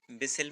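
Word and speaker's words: whistle: यानी कुकर की सीटी कुकर विसल इस इसमें भी विसल में टी साइलेंट है।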